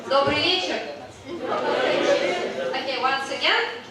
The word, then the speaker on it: добрый вечер: So later, like in some several hours, when we gonna have an evening, we're saying добрый вечер. Okay, once again, добрый вечер.